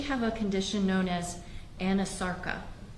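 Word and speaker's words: anasarca: a condition known as Anasarka? If I'm not mispronouncing it. No, you're pronouncing correctly. She did have a condition called Anasarka.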